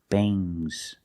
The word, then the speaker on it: bangs: Remember with ngs, it makes a soft g. Bangs. Bangs. Bangs. Things. Things. Fangs. Soft g.